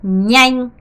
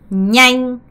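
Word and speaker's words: nhanh: 거예요 오케이 기억하시고요 자 얘는 어떻게 발음해야 되냐면 요렇게 발음해야 됩니다 냥 냥 냥 냥이에요 양이란 표현은 빠른 빨리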